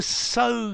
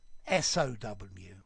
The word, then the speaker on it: sow: okay to sew sew to sow seeds s.o.w but a sow a female male pig it's like this row and row yeah row and row different pronunciations okay and now you're all